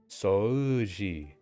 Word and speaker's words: 掃除: Yeah, they don't even really pronounce the U. They just say soji, soji. 掃除 Soji. I feel like whenever there's a U and an O next to each other, they just want you to pronounce the O longer.